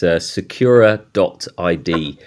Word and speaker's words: Sekura.id: look I I think the pronunciation is great it's Secura doid is what we go by but uh your pronunciation